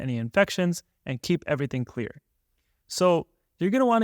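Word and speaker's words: Xlear: favorite nasal spray is something called clear but it's with an X so it's spelled x-l-e-a-r this nasal spray has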